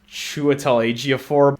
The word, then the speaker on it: Chiwetel Ejiofor: It stars, I think this guy's name is pronounced Chiwetel Ejiofor.